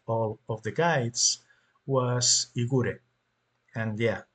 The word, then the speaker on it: Igor: of the guides was Igor and yeah I'm going to pronounce his name Igore because that's how he would pronounce his own name.